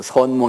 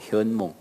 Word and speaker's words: 현몽: 꿈에 나타난 가이다 현몽 근데 우리 할머니는 옛날에 한문을 잘 모르셔서 선몽이라고 나한테 가르쳐주어 선몽 했다고 근데 알고 보니까 그건 발음은 잘못된 거더라고요 내용은 맞는 거고 현몽이에요 현몽 꿈에 나타난 가이에 그런데